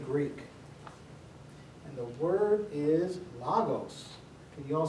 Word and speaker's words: logos: and the word is logos. Can you all say logos with me? Logos. Logos. And we, in English, it looks like L-O-G-O-S. Sometimes you hear it pronounced logos, but really the Omicron is logos.